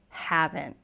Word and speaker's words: haven't: And finally, we have the contraction haven't, which is have and not. Haven't. And again, we have that N''T ending that sounds like it just stops in American English pronunciation anyway.